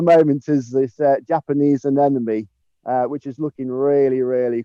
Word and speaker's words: anemone: us out and uh tell us all the pronunciation there we'll roman i'll give it a go this is an anemonem anemone it's an enemy and it's an enemy